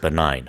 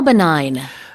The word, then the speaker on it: benign: How do you spell benign? Benign is B E N I G N. So, a little bit tricky with the G in there. Exactly. You don't pronounce the G.